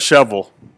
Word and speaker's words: Shelbyville: it's pronounced Merville marble a marble that's like shovel which is actually Shelbyville here in Tennessee but marble is the